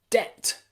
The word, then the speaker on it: debt: silent b okay but you'll also find a silent b in words like debt debt and subtle subtle it's a little bit